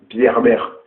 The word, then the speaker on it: Bieber: Enfin, je l'appelle Bierber. Enfin, c'est comme ça qu'on doit prononcer en français normalement, mais comme c'est un chanteur qui fait mouiller les filles, les gens ils l'appellent Justin Bieber, comme ça un nom mignon, comme ça un nom